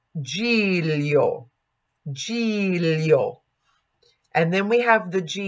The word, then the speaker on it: Giglio: And that is pronounced like Lio, Lio. So Giglio.